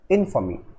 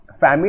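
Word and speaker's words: infamy: This word is इनफमी। फैमी नहीं होगा, इसको कैसे प्रोनाउंस करेंगे, इट इज इनफमी।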